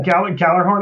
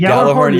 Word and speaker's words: Gjallarhorn: game is this, you know, I love the pronunciation. Gjallarhorn, is that correct? Gjallarhorn? Is it? Yeah, Gjallarhorn. I think Gjallarhorn yeah.